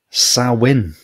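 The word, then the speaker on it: Samhain: you can do it sawin it says here SN it's it's right it's spelled like Sam hay yeah I think after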